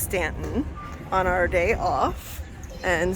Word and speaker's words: Staunton: So here we are in Staunton, which is actually pronounced Stanton, on our day off.